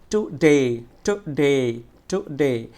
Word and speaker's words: today: স্বাভাবিক থাকবে আর ডেটা একটু জোরে এবং দীর্ঘ উচ্চারণ হবে, টু ডে, টু ডে, টু ডে।